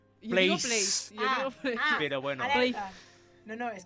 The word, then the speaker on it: Playz: Y Sí, un momento, se pronuncia Playzeta. Yo digo Place.